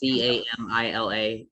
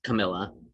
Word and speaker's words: Camila: It's Camila. It's one L, but it's just pronounced Camilla.